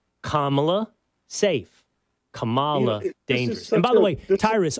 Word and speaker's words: Kamala: the rules right everybody listening if you're listening kamla enlightened Kamala racist so get it right Kamala safe by the way Tyrus on this note